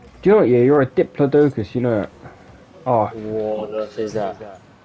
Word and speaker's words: Diplodocus: Dip. La. Doke. Oh. A Diplodocus. It's like woke, but doke. Yeah, bitch. Wait, what did you say? Huh? Did you say it wrong again? No. Diplodocus.